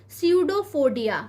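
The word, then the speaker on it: pseudopodia: तो ये जो क्रिया है, प्रक्रिया है, इसे हम क्या कहते हैं, स्यूडोफोडिया। क्या कहते हैं, स्यूडोफोडिया कहते हैं। पी यहाँ पर साइलेंट है इसलिए आपको इसका प्रोनाउंसिएशन का ध्यान रखना है।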